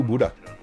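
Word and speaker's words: Bodø: well beautiful fun fact Boro is pronounced like Buddha is it really welcome to Buddha let's go and load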